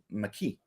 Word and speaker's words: McKee: Well, no, my name's pronounced McKee. There's no A in my name though. It's just.